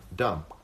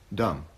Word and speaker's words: dumb: it's a dumb idea I'm not so sure that the be and dumb is silent do you see what I said there dumb you know what I mean dumb I'm not sure it's silent dumb it's there it's there dumb and dumb and